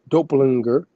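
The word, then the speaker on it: doppelgänger: McIntosh McGillivray relatives and doppelganger was a doppelganger.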